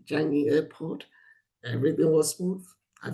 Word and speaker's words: Changi: village village hotel near the is it it's pronounced Changi Changi airport everything was smooth I flew back I'm